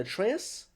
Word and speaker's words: Atreus: Is it Atreus?